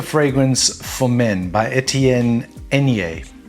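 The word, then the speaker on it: Aigner: is called super fragrance for men by etienne enye it's spelt a-i-g-n-e-r but it's it's pronounced na not agnir or whatever it is from 1978 and it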